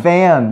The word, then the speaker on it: fan: Fan. Yeah. 자, 여러분, pan 발음이 지금 P-A-N 하고 F-A-N 하고 발음이 달라요.